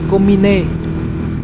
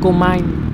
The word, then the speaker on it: Komine: Còn cái thương hiệu này là của Nhật, đọc theo tiếng Nhật thì nó là Komine, chứ không phải là Comine.